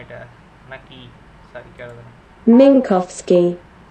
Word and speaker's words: Minkowski: Minkowski. Minkowski. মিনকস্কি, মিনকস্কি diagram, হ্যাঁ মিনকস্কি। Google ভালো উচ্চারণ করছে।